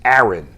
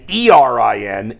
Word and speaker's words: Aaron: Because people in Northeast Ohio pronounce Aaron and Erin exactly the same.